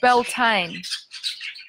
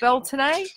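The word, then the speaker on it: Beltane: the next seasonal Vortex which is belan the Irish pronounce at belon but it is the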